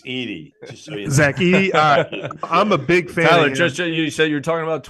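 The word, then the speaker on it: Edey: year before uh Zach Eddy from Purdue started playing like a madman uh but you know how to pronounce it right it's 80.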